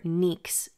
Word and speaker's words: Νυξ: And sibling to Erebos is Nyx, or Nyx as it's pronounced in Greek, the primordial goddess of night, also one of the very first gods.